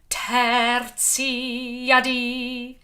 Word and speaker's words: tertia die: You can take a quaver off there to go again for tertia die. Tertia die. All bright, open vowels. Die. Lifting up. If you can roll your R, then do.